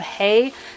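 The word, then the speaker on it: Hay: baskets they are from a brand called Hey spelled like the grass hey h-a-y they are made from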